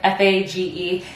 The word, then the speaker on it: FAGE: I don't think I'll ever love yogurt, but this brand, it's pronounced, oh, can you see it? F-A-G-E. It's pronounced Fage, which, thank you, Google.